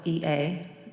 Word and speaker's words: Ea: E-A is pronounced Ea, A as in may, say, day, etc.